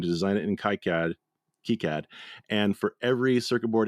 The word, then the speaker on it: KiCad: source schematic program called Kad or kead I think kead is the appropriate way to pronounce it but I always pronounce it Kad because I'm American I guess and earlier